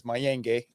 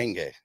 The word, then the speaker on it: Maynage: My last name is Mayange, Maynge. Gotcha. You can check me out Pronounce right there. Mayange.